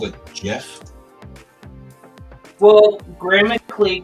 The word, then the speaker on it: GIF: I've always called it Jeff will grammatically correct you are pronouncing it correctly G with an uh with a vowel next to it usually makes it J sound right but there are